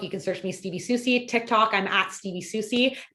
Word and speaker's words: Soucie: I mispronounced that? Soucie.